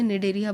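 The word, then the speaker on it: Cnidaria: ठीक, सी से spelling start है लेकिन हम लोग इसे निडेरिया बोलते हैं।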